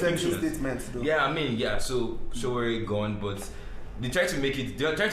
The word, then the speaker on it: Sowore: Nobody can pronounce it. That's fine. But I think it's Sowore though.